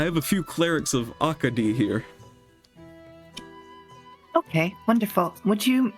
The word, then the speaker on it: Akadi: Akadi. Is this how you say it? Akadi. That's how you say it. Okay. I have a few clerics of Akadi here.